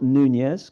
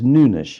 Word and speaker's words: Nunes: By the way, it's not Nunes because he's not Spanish. He's not a Spanish speaker. It's Nunish if you want to pronounce his name properly. Um Matias Nunes at right back for Manchester City.